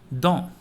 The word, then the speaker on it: dans: Dans. Please repeat. Dans. S is silent.